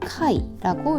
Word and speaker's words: 快: 그다음에 쾌라는 소리로 읽을 때는이 아이를 카이라고 읽습니다.